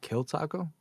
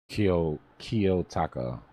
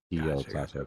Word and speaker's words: Kiyotaka: My bad, but you said kill taco? Kiyotaka. K-I-Y, Japanese, spell it like if it's a Japanese word. Kiyotaka, Kiyotaka .ai.